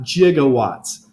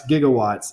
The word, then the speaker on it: gigawatts: on the same page it's not jigawatts my son even found some website that said jiga acceptable they even admitted it making Back to the Future No One on set knew how to pronounce gigawatts and so they just guessed and they guessed wrong and said jigat great Scott I mean